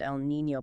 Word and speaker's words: El Niño: Driven by massive global oceanic and atmospheric circulations like the transition from an El Niño, pronounced El Niño, pattern to a La Niña, pronounced La Niña.